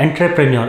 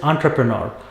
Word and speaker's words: entrepreneur: It is not entrepreneur. It is entrepreneur.